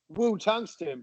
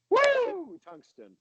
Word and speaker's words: Woo Tungsten: for bass fishing, and that is the correct way to pronounce it. You know, some people might say Woo Tungsten, but the correct way to say it is Woo Tungsten. Little Ric Flair you got to add on to it.